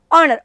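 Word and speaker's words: honour: जर तुम्ही ऑनर हा शब्द बघितला तर ह ने उच्चार नाही होते, ऑनर ओ ने उच्चार होते आणि ओ हा काय आहे, स्वर आहे, म्हणून आर्टिकल तुम्ही काय वापरणार, ॲन ऑनर.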